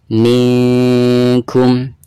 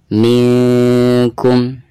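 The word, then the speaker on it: مِنْكُمْ: Cara membacanya, minkum, minkum. Seperti itu ya.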